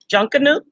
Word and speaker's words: Junkanoo: It was not my first time being there, but it was my first time experiencing a junkanoo.